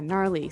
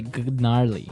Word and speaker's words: gnarly: gnarly gnarly run yeah gnarly so an interesting word it's spelled g n a r l e y okay so but you don't say gnarly no you say gnarly yep and a related